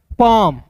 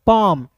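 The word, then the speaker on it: palm: एम का म काम पी ए एल एम पाम इस तरीके से पाल में नहीं पाम अब देखिए यहां पे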